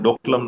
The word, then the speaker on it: Doklam: 2017, 73-day standoff in Dolam, which we generally pronounce Doklam now.